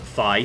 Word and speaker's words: Fi: Right, Fi is fighting the other... Fi, sorry. That's the correct pronunciation, apparently.